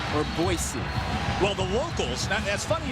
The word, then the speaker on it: Boise: Boise outside of Idaho. Okay. Boise within Idaho. All right. The locals say it's Boise. Everybody else on the face of the planet says Boise.